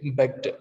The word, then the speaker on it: begged: Okay, begged, not begged, it's begged, it's begged. There's no gap here if you observe here. Okay, g and d, it's begged, begged.